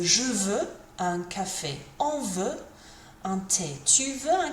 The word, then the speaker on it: veut: Veut, with a T on the end. Pronunciation-wise, it's exactly the same.